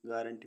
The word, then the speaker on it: guarantee: ऐसे वर्ड्स जिनमें U silent रहता है. GUARD guard means रक्षक. GURANTEE guarantee means गारंटी.